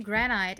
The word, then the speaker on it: granite: Um, Cyclopath uh says, "You're pronouncing granite exactly the way the English rules um tell you to, but people actually pronounce it with a short eye."